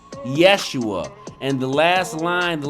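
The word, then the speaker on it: ישוע: This name Joshua is pronounced the same as Jesus. In Hebrew, it's pronounced Yeshua.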